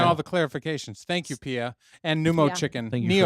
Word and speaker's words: Pia: Yeah, Pia.